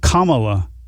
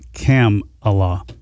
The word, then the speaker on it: Kamala: he said it's um it's camp Kamala Harris not cam Allah Harris okay I've been saying